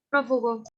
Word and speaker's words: prófugo: las que la que la sílaba tónica es la antepenúltima estación como prófugo prófugo se trata de prófugos